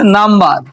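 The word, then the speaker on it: number: আরেকটা শব্দ যদি এখানে দেখি, লেখা আছে নাম্বার, এন ইউ এম যুগ বিই আর বার। এই যে এন ইউ এম এর এন ইউতে কিন্তু নাম উচ্চারণ হয়েছে, নাম।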